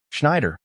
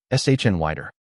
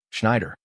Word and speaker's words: Schneider: She was helping Brooks pronounce a woman's name. "Schneider," she said softly. Brooks tried. S H N wider. Lena corrected him without smiling. Schneider.